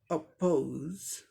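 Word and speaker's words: oppose: अपोज, अपोज, ये British English pronunciation हो गया। इसी का अमेरिकन में, अमेरिकन इंग्लिश प्रोनाउंसिएशन में क्या हो जाएगा, औ की जगह ओ साउंड हो जाएगा, बाकी सब सेम है। अपोज, अपोज, अपोज, अपोज, ओ औ, ये फर्क है ब्रिटिश में और अमेरिकन में।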